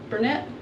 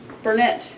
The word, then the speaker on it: Barnett: It's a Burnett. I don't know if that's how you say it. Yeah, Barnett. It's a Barnett.